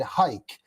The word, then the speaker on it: Hike: The last name is said hike, like take a hike.